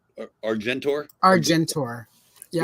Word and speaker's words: Argentor: I really like, and I know this is one of the future slides, but the Argentina is that how you spell it? Argentor? Argentor.